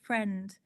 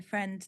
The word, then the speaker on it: friend: So, for example, friend. There's an I there in friend that makes no sound at all.